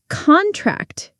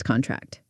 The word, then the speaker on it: contract: Contract is a noun, a business contract. But contract is a verb, muscles contract.